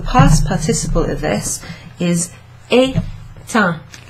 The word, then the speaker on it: éteint: So, in the past tense, the past participle of this is éteint, éteint, comme ça. Et, non, et. E, accent aigu, T-E-I-N-T. Et ça se prononce éteint.